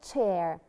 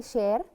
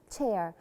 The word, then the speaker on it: chair: It's a chair. Very good. We don't say share. No, it's a chair.